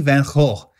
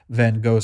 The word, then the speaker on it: Van Gogh: And excuse me, I think that's the correct pronunciation. Someone corrected me on the earlier video. I will call it Van Gogh since that's how we pronounce it here in the United States, even though it's wrong.